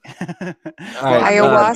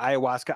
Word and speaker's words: ayahuasca: Ayahuasca? You pronouncing that right? Yeah, ayahuasca.